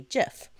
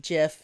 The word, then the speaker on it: GIF: do so using a GIF. And before you get all internet crazy on me, it's actually supposed to be pronounced GIF, not GIF, from the mouth of the creator himself.